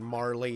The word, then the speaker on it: Marle: Sorry, I'm noticing in chat, I think I've started a war between Marley and Marl. On the pronunciation you there.